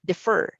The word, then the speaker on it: defer: Letter B is a short E sound. Defer, defer, compared to neon, lenient, beacon, you see.